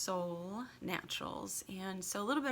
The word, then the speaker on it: Solle Naturals: you might think it's quite fun to say Soleil but it is pronounced Sol Naturals and so a little bit about myself my